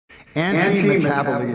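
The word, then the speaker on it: antimetabole: Anti-metaboly is the correct way to pronounce that.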